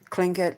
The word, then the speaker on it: Tlingit: pronounced look websites is there's three different ways to pronounce it. But I'm a Kiwi and we pronounce words the way they're spelt, so that's why I say Tlingit.